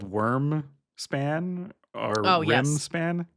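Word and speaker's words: Wyrm: I think it's called Worm Span or Rim Span. How do you how do you pronounce out loud because I've never said it.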